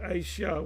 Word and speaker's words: Aisha: And he said Aisha, which is um Ayasha. We say Ayasha, they say Aisha.